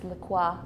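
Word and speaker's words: La Croix: pronounce it okay so I have a friend who grew up in France and says it's laqua laqua but it's also like St Croy and then you know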